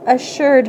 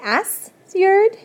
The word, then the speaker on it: assured: It doesn't say assured the way we pronounce it in English. Assured. It sounds like an SH, but it's not.